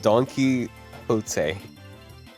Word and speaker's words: Don Quixote: Don Quixotic Tree. Don Quixotic. It's Don Don pronounced. Axolotl. It's found. It's Donkey Hote.